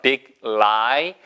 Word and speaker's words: big lie: 우리말에 자음접변 적용시키시면 절대 안 됩니다.